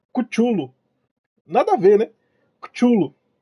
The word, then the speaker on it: Cthulhu: O nome correto é Cthulhu. Nada a ver, né? Cthulhu. Cthulhu. Call of. É, Call of Cthulhu. Mano, nada a ver. Cthulhu. É o nome do cão. Isso, Cthulhu.